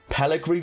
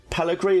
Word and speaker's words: Pellegri: in the comments that i was saying peligry wrong pellegri is how you say it i was calling it i was calling him pellegrini i could only apologize we did have a pellegrini in the side last